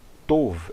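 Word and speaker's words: טוב: A palavra tov em hebraico, em aramaico será a palavra tav. A palavra enosh em hebraico será pronunciada enash em aramaico.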